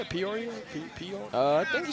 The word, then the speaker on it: Peoria: Ian Patterson nearly reeled in there from Torrin Hill, the tight end out of Peoria, Arizona. Is that how you say it? Peoria? Peoria?